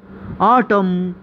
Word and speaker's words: autumn: physically critically critically okay अब ऐसे word जिसमें अल्फाबेट एन साइलेंट हो autumn autumn column column dam dam hem